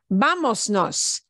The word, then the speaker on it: vámonos: So the way we uncomplicate that and make it easier to physically pronounce with the muscles of your mouth is to cut off the S. Vámonos, vámonos. Now we don't have the S bleeding into the N.